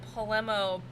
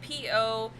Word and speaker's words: pomelo: But yes, and polemo?